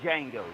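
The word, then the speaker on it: Django: But um I don't know if nobody said it was my movie that I could watch over and over is Jango. The D is silent.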